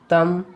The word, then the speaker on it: thumb: B is not pronounced after M at the end of a word. For example, limb, crumb, dumb, comb, bomb, thumb, climb, tom.